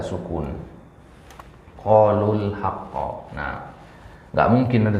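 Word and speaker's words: قَالُوا الْحَقَّ: Qalu al-haqqo atau qalul haqqo? Kalau enaknya didengar tuh gimana? Qalu al-haqqo atau qalul haqqo? Qalul haqqo. Ya, berarti itulah dia bacaan yang benar.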